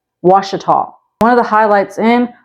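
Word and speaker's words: Ouachita: parish is spelled like this this and it's pronounced wasal one of the highlights in wasal Parish is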